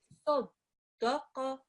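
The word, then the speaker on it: صَدَقَ: Let's now concentrate on this sad, which is a thick, heavy sound. Round your mouth as you pronounce this.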